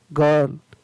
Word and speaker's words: girl: उच्चारण नहीं होता है, तो इसको पढ़ेंगे गर्ल। र नहीं पढ़े, गर्ल। ग है वो लंबा पढ़ा जाएगा, अ है वो लंबा बोला जाएगा।